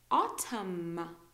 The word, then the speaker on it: autumn: M and then n uh usually we don't pronounce the M okay so condemn column autumn autumn you know fall the season so in